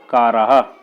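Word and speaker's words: कारः: जैसे शब्द है काराह, तो इसमें जो कारा है उसके बाद हा का उच्चारण होता है।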